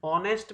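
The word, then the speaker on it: honest: ऑनेस्ट में हम एच को है को बोल ही नहीं रहे, यह तो साइलेंट है, हम बोले ऑनेस्ट।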